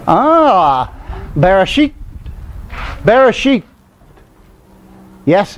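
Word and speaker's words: בראשית: Bereshit. Yes, it's sheet. It's sheet. Because you must remember that the Hebrew I is pronounced as an E in almost all cases.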